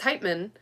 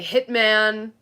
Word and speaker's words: Heitman: So, my main name is Heitman, and they would say Hitman, Heatman, Heatman.